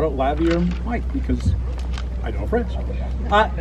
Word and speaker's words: lavalier: This is a lavalier mic.